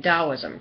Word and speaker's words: Taoism: I'm very much interested in Taoism, Taosim. Spelled with a T, but it sounds like a D.